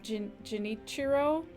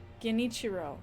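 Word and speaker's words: Genichiro: Oh, Gen like get geniciro there. Okay. Okay. We call him live stream boss hard G.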